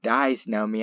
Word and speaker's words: Dysnomia: who played xena however mike brown actually he pronounces the name disnomia after his wife diane it has a diameter